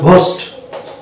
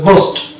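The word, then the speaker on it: ghost: ঘ ধরি তাহলে এখানে কিন্তু উচ্চারণটা হবে একচুয়ালি উচ্চারণ হলো কথা ছিল ঘোস্ট আমরা যেহেতু জানি জি এইচ পাশাপাশি দুটি লেটার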